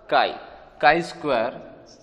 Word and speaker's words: chi: इसे CHI लिखा जाता है, बट प्रोनाउंस होता है उसका काई स्क्वायर डिस्ट्रीब्यूशन.